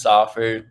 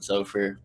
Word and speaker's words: Soffer: yeah, so my last name's Soffer. Some people pronounce it Zofer, but on Twitter I go by, which is my middle name.